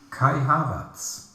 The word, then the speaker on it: Kai Havertz: And I'm going to talk to you about Kai Havertz.